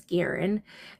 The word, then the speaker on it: Guerin: I was always pronouncing her last name wrong. It's Guerin.